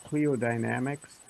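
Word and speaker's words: Cliodynamics: Cleodynamics Right.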